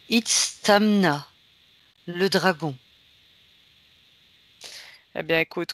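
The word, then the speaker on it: Itzamná: Alors, le premier s'appelle Itztama. Alors, je recommence, je l'ai peut-être mal prononcé. Itztamna, le dragon.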